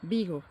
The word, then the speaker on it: Vigo: I go et donc ça se prononce en espagnol en B ça fait un B Bigo c'est Bigo très joli et là